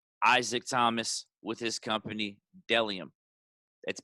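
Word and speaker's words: Bdellium: have my friend isaac thomas with his company dellium that's b d e l l iom pronounced dellium bellium is a men's and women's minimalistic brand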